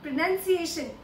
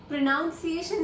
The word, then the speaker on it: pronunciation: जी हाँ, प्रोनंसिएशन, प्रोनाउंसिएशन नहीं। तो 10 फेमस ब्रांड्स और उनकी ठीक प्रोनंसिएशन।